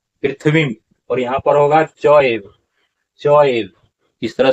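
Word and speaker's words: चैव: और इसका उच्चारण पृथ्वी, और यहाँ पर होगा चौएव, चौएव, इस तरह से उच्चारण क्या होगा, चौएव।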